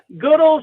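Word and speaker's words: Goodells: may well not yet did i get the pronunciation of your town right and where is goodle's michigan goodwill's is a little farm town north of richmond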